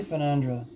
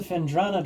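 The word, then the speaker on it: Phendrana: I always say Fenandra, but oh well. Access to Fendrana drifts north granted.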